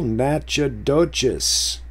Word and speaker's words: Natchitoches: Speak of the devil, Natchitoches. See, but that's pronounced Natchitoches if you're from that territory.